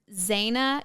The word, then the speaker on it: Zana: The 2 that I have, one is Zana Keithley, and it's spelled like Zanna and then Keith Lee, Ley.